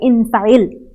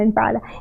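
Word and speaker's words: اِنْفَعِلْ: And it's going to be infa'ala. Oh, sorry, infa'il. Okay? Not infa'ala. Infa'il.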